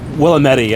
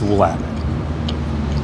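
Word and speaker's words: Willamette: Willetti, I've heard some people want to call it. That is not the correct pronunciation by the way. It's Wamtt.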